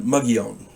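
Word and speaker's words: Mogollon: territory near the uh mugg young Rim it's it's spelled m-o-g-o-l-l-o-n pronounced mugion I was uh low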